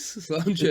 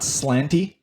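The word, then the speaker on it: sláinte: Slanja, buddy. Slanja. Cheers. Slanja. Is that how you say it? Slanja. Okay. I thought I remembered how to say it properly. As long as it's not slanty. Yeah, no, definitely not.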